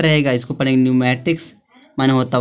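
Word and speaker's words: pneumatics: पी आया है तो पी साइलेंट रहेगा। इसको पढ़ेंगे न्यूमेटिक्स माने होता है वायु शास्त्र होता है।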